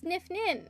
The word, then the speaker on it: Nifnin: Hold on, I can literally just search up how to pronounce this. No, it's Nifnin.